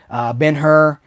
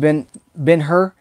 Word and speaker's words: Ben-Hur: And, I think I like Spartacus better than Ben-Hur too. I haven't watched Ben-Hur. I always feel like I should say Ben-Hur, but it's Ben-Hur, right? We pronounce the H.